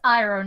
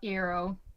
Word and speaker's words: Iroh: It's Iroh, not Eero.